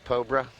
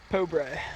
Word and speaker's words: Pobre: It is Pobre because my crack play-by-play guy, Scott Minshaw, went over to the Bishop Eustace team and asked.